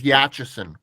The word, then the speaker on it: Yachison: My last name is Yachison. Yachison. I didn't know if it was a k or a ch.